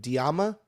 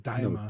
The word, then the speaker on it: Daima: I'm gonna say it wrong again, but Diama. No, Daima.